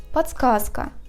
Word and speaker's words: подсказка: Or the same happens with the word подсказка. We write Д, but we pronounce Т.